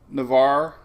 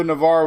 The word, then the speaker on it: Navarre: nicole appreciate that um navarre our new favorite town didn't even know navarro was out there and i hope i'm saying it right somebody told me don't don't say the e so yeah we'll have